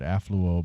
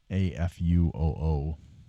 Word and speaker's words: Afuoo: Um, and I mispronounced their name. I said affluo before. That's auo actually. A fu o.